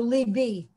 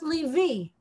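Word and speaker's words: לבי: So libi. If it didn't have a double letter there, it would be pronounced livi, which we don't pronounce. We say libi because of that.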